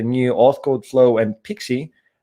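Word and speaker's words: PKCE: the other that one as well anyway it's pronounced pixie but it's a proof code for key exchange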